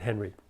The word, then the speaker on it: Henri: painting by Robert hen it looks likei but he pronounced it Henry it's on the cover